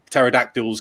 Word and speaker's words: pterodactyls: for other things like pterodactyls come and eating you with a silent p or whatever might be